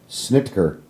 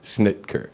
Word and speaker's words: Snitker: to pronounce your name what the corre correct pronunciation of your name is snitker snitker yes yeah snitker I mean technically snitker